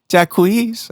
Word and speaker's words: Jaquez: Jaquez. I think that it was the way he said it.